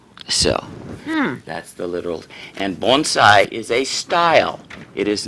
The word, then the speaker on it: bonsai: Okay, first of all, it's not bonsai, like I say it. How is it pronounced? Bonsai. Bonsai. And the literal translation is tree.